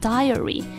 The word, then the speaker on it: diary: 然后 D-A-I-R-Y 是日记读成 diary。